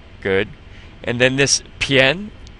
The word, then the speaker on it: 片: And then this 偏 is just like 先, like in 先生, the word for Mr. Except instead of the she, you have the p. Pn. 偏. It's almost like saying the letters P, N.